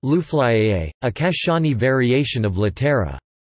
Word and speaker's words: Luflā'i: Lufla, I, pronounced Luflaiye, a Kashani variation of Latera, I.